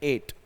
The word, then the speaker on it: ate: ये ईट का second form, इसका प्रोनाउंसिएशन है एट, ATE।